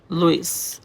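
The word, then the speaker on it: Louis: তোমাদের লুই বলতে লুইস আবার বল না বানানের জন্য আমি লুইস বললাম স্টার এঙ্গেল অফ লুই বানানের সময় লুইস লিখবা বাট উচ্চারণ কিন্তু অবশ্যই লুই করবা লুইস কিন্তু উচ্চারণ করা যাবে না এই হচ্ছে কি আমাদের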